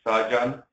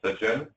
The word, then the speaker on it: Srdjan: Since it's almost impossible to pronounce, most people here in States call me Srdjan. Japanese folks say Srdjan, but true pronunciation is Srdjan.